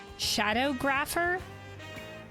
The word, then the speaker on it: Shadowgrapher: question, how do you pronounce Shadowgrapher? Is how I would pronounce that. Shadow, obviously. And then graph, as in like a graph of something.